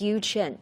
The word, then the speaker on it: Yu Chen: My colleague has been keeping telling me the name should be pronounced as Yu Chen, right?